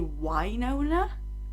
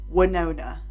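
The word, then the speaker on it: Wynonna: Apparently, you're supposed to say Wynona, like as if the first letter was Y. Wynona. Every single time I've said Winona. So, well, actually, sorry, not Winona Ryder. Winona Ryder, I'm saying correctly because hers is spelled with an I, right? Whereas Winona Earp is spelled with a Y, and that's supposed to be said Wynona, I believe.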